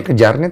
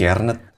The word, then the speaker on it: Kjaernet: Bacanya Kejarnet apa Jarnet sih? Kiernet. Kernet, oke.